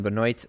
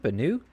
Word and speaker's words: Benoit: Ryan Benoit. I heard Benoit. Is it Benoit? This is OIT at the end of his name. That's the classic French pronunciation of forget all those three letters.